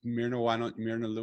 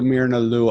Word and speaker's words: Myrna Lou: So MY looks like my, but think of it as ME, but my name is spelled MYRNALOU.